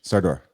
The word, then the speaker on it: Sardor: You were the blue fish, Sardor.